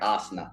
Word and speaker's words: Asna: Asna. That's how you say his name. It's like Asna.